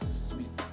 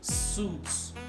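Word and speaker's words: suites: pronounce this word correctly they say suits suits but the correct pronunciation of this word is sweets sweet hotel and sweets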